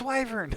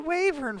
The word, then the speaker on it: wyvern: wyvern and then i googled it and it's wyvern i was like what why did i pronounce the wavering for 30 years oh okay well that makes